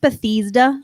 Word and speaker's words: Bethesda: It's pronounced Bethesda.